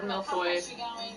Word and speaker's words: millefeuille: The first word of millefeuille has 2 L's and so does the last one. But in the first word it pronounces the L, in the second word it pronounces the U.